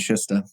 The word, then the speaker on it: Shuster: Sometimes people say Schuster. It's actually Czech originally. It was spelled Sustr, and then they kind of anglicized it. So I don't know. I don't know what the right way to say it is even. But Schuster, I go with Schuster.